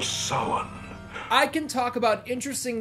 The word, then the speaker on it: Samhain: I like how Dr. Loomis in Halloween 2 invented his own pronunciation of the name Samhain. Samhain. But here in Halloween 3, Cochran absolutely nails it. The Festival of Samhain.